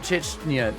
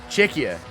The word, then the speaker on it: Czechia: Chechia's not Chechnya.